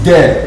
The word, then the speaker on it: des: And when you come to this in the plural form is des, not des, is des, because the s is silent.